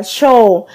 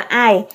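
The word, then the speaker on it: 相: tương hoặc là tướng có cách đọc là so hoặc là show hoặc là ai ai đi trong ai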